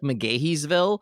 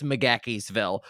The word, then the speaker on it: McGaheysville: see a town called it's spelled uh mc like mcdonald's m.c g-a-h-e-y it looks like mcgaheysville yeah it's mcgakeysville don't ask me why it's mcgakiesville but there is a